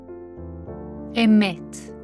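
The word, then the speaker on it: אמת: This is how these two words are pronounced. Pistis. Emet.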